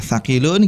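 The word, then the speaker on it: ثَقِيلٌ: Yang panjang itu di ki-nya.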